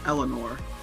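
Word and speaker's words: Erina Pendleton: Her first name is actually based off of a Beatle song, Eleanor Rigby. However, when pronounced phonetically in Japanese, it reads as Arena and not Eleanor. This is because in native Japanese, the letters L and V don't have a don't have a distinct sound. Instead, they pronounce their L's like an R.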